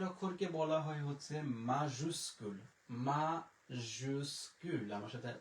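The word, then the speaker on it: majuscule: মাজুস্কুল, আমার সাথে উচ্চারণ করতে পারেন, মাজুস্কুল, মাজুস্কুল।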